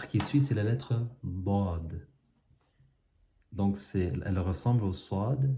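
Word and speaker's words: ض: Elle se colle sur ce côté, sur le côté de ces molaires. Soit droite ou soit gauche. Dad, dad, dad. Donc moi je suis habitué à prononcer du côté droit, dad, certaines personnes du côté gauche, mais il faut se pratiquer.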